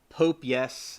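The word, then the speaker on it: Popeyes: sure he did yeah it's pronounced Pop Eyes like popey the Sailor Man yeah so popey the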